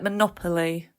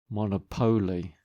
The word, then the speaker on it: monopoly: are right it's like Monopoly it's one power isn't it Monopoly sorry is that how you say it okay question 3M Mrs